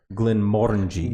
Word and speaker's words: Glenmorangie: this bottle of scotches I've been told the correct way to say it is Glenmorangie Glenmorangie you could say it